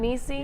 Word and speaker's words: Niecy: Niecy No, did I say it right that time? Niecy?